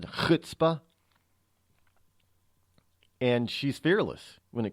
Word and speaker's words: chutzpah: She's got chutzpah, as my Jewish friends would say. That's how they pronounce it, chutzpah.